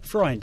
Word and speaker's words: Freund: Freund.